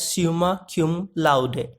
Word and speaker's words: summa cum laude: It is pronounced as summa cum laude. It's a Latin word adopted in English. As an adverb, it means with the highest praise or honor. For example, he graduated summa cum laude from Harvard University.